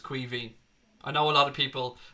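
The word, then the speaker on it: Caoimhín: way it's the Irish for Kevin and it's pronounced qui V I know what other people and I will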